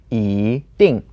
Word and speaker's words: 一定: Okay, in the word 一定, the E word changes to the second tone because it's paired with 定, which is the fourth tone. So it becomes 一定.